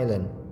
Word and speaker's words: island: famous legend from Java Island. suatu legenda terkenal from Java Island. Ini bacanya Island ya, bukan Island ya atau Iceland tapi island. S-nya hilang. Silent S istilah dalam bahasa Inggris ya.